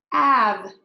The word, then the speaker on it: have: but it's actually pronounced have have so it would actually be spelled like this AB without the e so when you seem to let this word have we're not saying the e so tricky so just